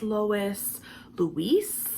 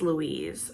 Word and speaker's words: Louise: pronounce my name right I get a lot of Lois Lois Louise which is not the same as Louise sometimes when I meet